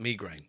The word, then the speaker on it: migraine: I was devastated when I found out the correct way to pronounce migraine is in fact migraine.